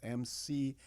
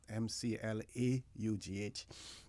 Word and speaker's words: McLoughlin: Peter McLaughlin, and that is spelled McLoughlin, not McLaughlin.